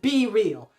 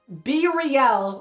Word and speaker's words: BeReal: BeReal is pronounced BeReal, not BeReal or BeReal. It's like BeReal from Cypress Hill?